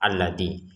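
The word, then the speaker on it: الذي: Tapi kita tetap bacanya harakatnya fathah alladzi ya.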